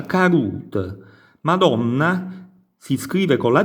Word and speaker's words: caduta: La caduta, vedete, si scrive caduta, si continua a scrivere caduta, ma si pronuncia carut.